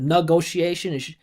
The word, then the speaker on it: negotiation: mine, for American listeners, when you have those TION endings, the syllable before is the primary stress. So instead of negotiation, it would sound more clear.